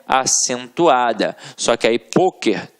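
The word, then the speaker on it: pôquer: Só que aí, poker tem uma pronúncia fechada, e aí leva o acento circunflexo.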